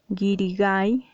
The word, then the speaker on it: guirigay: la alternativa correcta sería guirigay guirigay aguda muchos quizás podrían tener